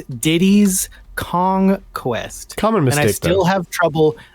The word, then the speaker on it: Diddy's Kong Quest: learned the correct name it is not Diddy Kong's Quest it's Diddy's Kong Quest commonness I still have